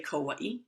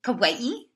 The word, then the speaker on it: Kauai: Cuz when we were on Kawai, as you say, Kawawaii, some people say Kauaii. Kawaii, depending on your dialect.